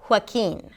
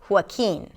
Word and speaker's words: Joaquin: But generally, the J does not represent the 'h' sound. In this name it does. Joaquin.